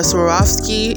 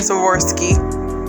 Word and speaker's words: Swarovski: on y'all can see i brought out the swarovski and we're gonna bling these things out yes